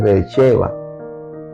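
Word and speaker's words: Beerseba: esto llamó aquel lugar Bercheva." Bercheeva. Eh, lo va a ver escrito porque normalmente se escribe Berceba, pero es eh e en el hebreo es Vercheva, porque allí juraron ambos.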